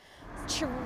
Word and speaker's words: chorizo: Something like chorizo is fairly well established now in English as an anglicised word. Now, that's not how it sounds in Spanish. The Z letter in Spanish is pronounced either like a S or like a Th, depending on which part of the Spanish-speaking world you're coming from.